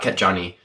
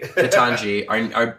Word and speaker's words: Ketanji: Did I say it right? Yeah. Not Ketjani. I like Ketjani. Ketanji, our new and best